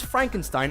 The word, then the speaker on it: Frankenstein: comedy legend gene Wilder to adapt Mary Shelley's Frankenstein Ainsworth comedy by the name of Young Frankenstein it's pronounced frank enstein film is considered by anyone